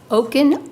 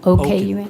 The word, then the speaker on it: Okun: Oaken, O-K-U-N, yeah. Okay, thanks. Some people pronounce it Okun. It's actually correct as well, but it's more of an African versus a Russian background.